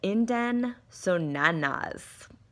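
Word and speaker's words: idem sonans: The doctrine of indem sonanas, like a banana, but with only one A.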